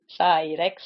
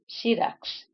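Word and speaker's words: Syrax: of people they say call her s Rex like T-Rex and it's actually shx shx fun bit about Ren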